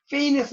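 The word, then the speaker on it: feign: 한 일곱째 줄에 픽션은 페인에서 나왔다는 거. 페인. 그 밑에 FEI, GN 나왔죠. 꾸며내다. 이든 지가 발음이 안 됩니다. 페인이라고 읽어요.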